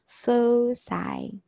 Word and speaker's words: foci: the plural of a focus is fosei okay pronounced as fosai okay so for this it's pronounced as faux